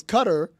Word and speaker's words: Qatar: because we there was a lot of disagreement about how to pronounce that word and I feel like you were on the other side of it in that case it's cutter it's look it's if